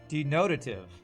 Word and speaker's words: denotative: Looked it up. Second syllable. You've been saying it wrong for years. Denotative.